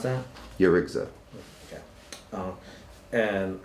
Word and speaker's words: Yarigza: How do you pronounce that? Yurigza.